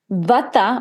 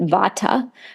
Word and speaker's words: Vata: Vata, or in the West we pronounce it Vata, but Vata dosha is primarily dominated by air and ether.